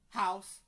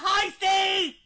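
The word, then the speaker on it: Heise: Sometimes they kept saying Huss, Heist, House. We're like, no! It's Taylor Heisty! It's Heisty!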